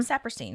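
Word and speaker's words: Sapirstein: So not um which wait, is that how you pronounce this one? Sapperstein, right?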